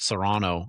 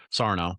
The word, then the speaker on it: Sarno: But we've had uh our friend Chad Serrano on here who's a Sarno. I always say I always say Chad's name wrong.